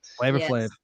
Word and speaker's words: Flavor Flav: flave is that how you say his name flavor flave yep he was invited to sing the national